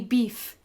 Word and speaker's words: Biff: My name is actually Beef. That's pronounced beef. B-I-F-F. Beef.